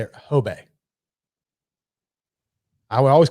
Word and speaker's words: Hubei: He's like, think of like hoe, and like your hoe is your bay. Like, like your bay. So like Hobay is how you say it.